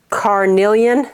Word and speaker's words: Carnelian: like a cherry red and this one is Carnelian that's how you say it and the next